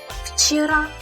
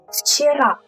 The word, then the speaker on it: вчера: The word вчера. You will say it with an F at the beginning, kind of like this.